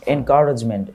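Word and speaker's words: encouragement: এনকারেজমেন্ট, এনকারেজমেন্ট, এনকারেজমেন্ট, কাউরেজ না বলে chores বলো, তাহলে দেখবা শুনতেও ভালো লাগবে, উচ্চারণটাও সঠিক হবে।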